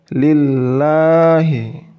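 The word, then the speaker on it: لِلَّهِ: Kemudian dibaca tipis. Dibaca tipis itu ketika tanda baca kasroh itu bertemu dengan tanda baca tasydid pada lafaz Allah, lam pada lafaz Allah. Jadi baca lillahi. Jadi permukaan lidah kalian tidak perlu mendekati langit. Biasa saja. Seperti pada contoh sebelumnya. Lillahi. Kemudian billahi.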